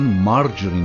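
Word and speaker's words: margarine: و پروس امضا شد مارگارین تلفظ انگلیسی آمریکایی آن مار جرین است که به کره نباتی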